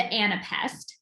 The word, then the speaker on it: anapest: just two stressed syllables the anapest which is unstressed unstressed stressed which actually kind of sounds like the word itself and a pest uh there's the dactyl